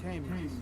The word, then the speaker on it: Thames: Pronounced Tims. The Tims? No. Seriously? Oh, I put on Pounds got it right. Thames. Thames. Oh, the Thames. Yeah. Oh yeah, music down there. The Thames. With double M.